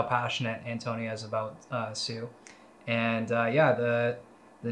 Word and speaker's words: Tsu: on what sue is uh tsu network this pronounced sue and uh i will have you know that